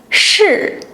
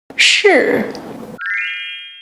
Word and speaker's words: 是: Lift the tongue tip close to the front of the hard palate. Now, ensure you're pronouncing it with the falling tone. Practice by repeating 是, 是.